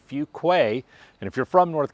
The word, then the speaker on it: Fuquay-Varina: Not Fukuquay or Fuguay or whatever. It's actually Fugquay.